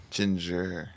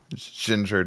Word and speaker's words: Jinjer: be French doesn't it kind of Ginger just sounds like a word you would want to say with by the way um I guess I guess you know if you're looking at this but it's spelled j i n j r not like the food yep there we go